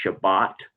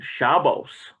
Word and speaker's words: Shabbat: um the difference is certain jews they pronounce it's shabbat and some will say shabbos uh depending on which part of europe they're from you know it's either